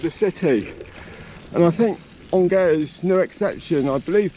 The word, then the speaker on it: Angers: path going right into the centre of the city, and I think Angers is no exception.